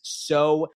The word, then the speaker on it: Seaux: Today's show sponsor on the Frankie D'Astoli Show is So Catholic. That's spelled SEAUX.